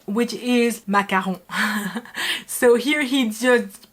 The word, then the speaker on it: macaron: ไปมากระลอง So here he said macaron, which is macaron. So here he just pronounced it the Thai way, completely okay.